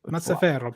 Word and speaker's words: Mazzaferro: Sal Mazzaferro season, baby. I can't say his name. Mazzaferro. Mazzaferro. It's a lot. Mazzaferro. Put some Italian on it.